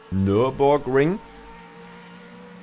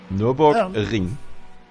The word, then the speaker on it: Nürburgring: Nürburgring. Nürburgring. I can't roll my R's like that. Yeah. That rolling R sound is not in the English language. It's not actually rolled in German.